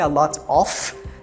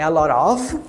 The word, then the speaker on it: a lot of: Não vai ser a lot of, é a lot of. Esse F aí tem um leve sonzinho aí, tem um som de V aí, bem pouco pronunciado.